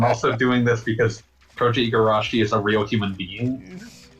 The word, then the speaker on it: Igarashi: It's Igarashi. Oh yeah, that would make sense. I've just always pronounced it with the, like, how it appeared in the credits of IGA, the end.